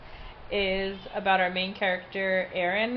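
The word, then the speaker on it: Auren: about our main character Aaron is how I say her name U or a Aon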